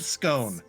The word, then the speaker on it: scone: pumpkin pumpkin wouldn't honestly a scon sounds like it's what it should be at the bakery doesn't it like that should be a scon and not a scone also it's it's spelled scone I don't care you say in the UK is it a SC well it depends on I say scone out of principle it's scone in North America no idea alante uh